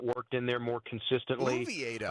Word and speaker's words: Oviedo: I've not heard that pronunciation yet. You went ooh and not oh. Is that something I need to adjust? Do we need to adjust our pronunciation guides? Was that a slip up by you, or is that the official Pirates pronunciation of the name?